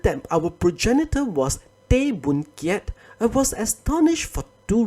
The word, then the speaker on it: Boon Kiat: Thus, Boon Kiat, which I believe is written like this with Chinese characters, is the Hokkien pronunciation.